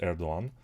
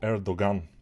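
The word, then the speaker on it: Erdoğan: erdogan of course erdogan I think it's pronounced erdogan we call it in Bulgaria because you know you are not saying the the G but we are saying it here so erdogan is when Bulgarian Medias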